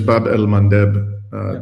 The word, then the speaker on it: Bab el-Mandeb: Uh just again, the correct pronunciation is Bab el-Mandeb.